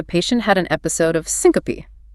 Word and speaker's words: syncope: Then the family tells you the patient had an episode of syncope. Pronounced s-i-n-co-pe, three syllables. The e at the end is not silent.